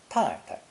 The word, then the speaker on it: 太太: The second syllable can also be pronounced with a neutral tone, 太太, but this habit of de-stressing final syllables is usually found among speakers of the accent in Beijing and surrounding areas.